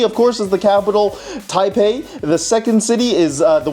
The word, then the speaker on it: Taipei: in Chinese is pronounced Taipei, which is spelled with a B in the modern pinyin system.